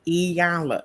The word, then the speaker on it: Iyanla: name she tells them pronounce my name correctly my name is Ayala she says it and